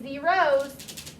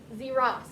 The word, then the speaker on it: zeros: This E tells us this needs to be a long O sound. So it needs to be zeros, not zeros.